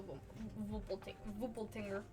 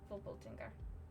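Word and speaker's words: Wolpertinger: off of off the vo tinger nope that's not how you say it vole tinger I have to say it in a German accent for it to sound right you think big I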